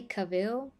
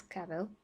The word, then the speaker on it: Cavill: cavill um i mean some people do say cavill but i'm i'm sure it's kavel i have to see